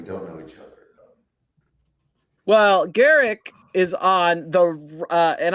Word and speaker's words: Gerick: Well, Garrick is on the uh and I'm pronouncing it right hopefully.